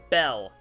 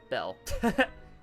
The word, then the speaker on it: Belle: better and that is Belle one word Belle just one syllable um so yeah this